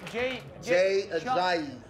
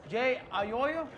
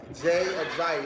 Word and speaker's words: Jay Ajayi: Jay Ajayi. Jay Ayoyo? Jay Ajayi.